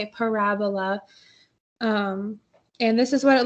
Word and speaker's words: parabola: That's how you say it, parabola.